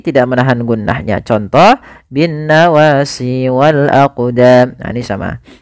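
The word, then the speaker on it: والأقدام: huruf qf yang disukunkan maka ketika ada huruf qf atau yang semisalnya yaitu huruf Qalqalah maka cara membacanya yaitu kita memantulkan huruf qnya yaitu kita pantulkan Maaf kesalahan yang terjadi sama sebagaimana tadi lafal mujrimun yaitu dia apa namanya tidak ee apa tidak mantur contoh Wal aqdam itu salah yang kedua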